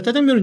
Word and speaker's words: 짜장면: 아니야 자장면이 아 예 요즘 사실 원래는 발음이 자장면이 예 자장면으로 써야 됩니다 끝나고는 방송 끝나면 야 짜장면이나 한 그 먹자 어 짜장면이라고 꼭 하라고 그랬어 예 지금 사실 이제 다 짜장면은 이제 상관없게 됐죠 이제는 이제는 괜찮아 이때 당시에